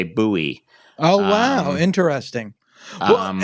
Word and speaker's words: Bowie: And here it's always Bowie, unless I'm in the South, in which case they say Bowie.